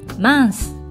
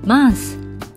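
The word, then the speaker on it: mince: 意味の形容詞 mars m e n 生うーんと書いてまーすと発音しますが女性型は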